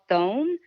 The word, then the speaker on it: Thoum: It's called thome, but it's garlic.